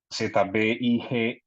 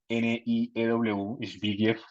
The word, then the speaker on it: Zbigniew: Eh, Zbigniew, Zbigniew, y Brzezinski, Brzezinski.